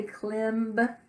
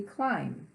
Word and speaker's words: climb: here's an interesting word see the B on the end we wouldn't say Clem or climb but we can look at that bingo hmm that doesn't sound like a word I would I had never heard climb but must be climb it's tricky but you can figure it out here we have two